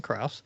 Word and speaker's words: Kraus: I've got a special guest on Mr Krauss is that how I pronounce your uh your last name the first